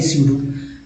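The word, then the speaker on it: pseudo: अब ये देखिए स्यूडो, ये पी जो है साइलेंट है, याद रखिएगा ये पी जो है दोस्तों ये साइलेंट लेटर्स है, लेकिन बिना पी के तो होगा भी नहीं स्यूडो।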